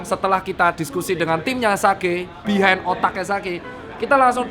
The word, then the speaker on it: Sage: Bacanya Sage apa Sage apa Sange, Mas? Sage. Harusnya sih sebenarnya Sage.